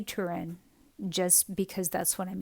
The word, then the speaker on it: Turin: and it's kept now we pronounce it in the US as Turin. So it's kept in Turin, Italy. I think in that region they would say it tin, but we're going to say Turin just because that's what I'm used to saying.